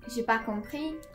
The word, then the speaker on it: j'ai pas compris: the things here, but in French, when you do the negations, you don't ever really pronounce this N. So when you're speaking, j'ai pas compris.